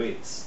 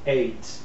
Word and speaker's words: ate: Eight. Like number eight. Not eat. Eat, ate, eaten.